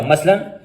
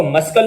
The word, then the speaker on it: muscle: सी इज not pronounced in the ending SCLE, जब भी किसी भी वर्ड के आखिर में SCLE का ये ग्रुप आएगा उसमें सी साइलेंट रहेगा। मसलन MUSCLE, मसल, मसल, हम इसको मस्कल नहीं पढ़ेंगे बल्कि पढ़ेंगे मसल।